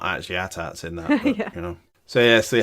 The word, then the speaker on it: AT-AT: walkers I'm calling them at ATS even though there is controversy on I believe it has been officially put out by a spokesperson for George Lucas that it is pronounced at-at yay it's said in